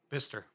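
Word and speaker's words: Bicester: B I C E S T E R. Bister.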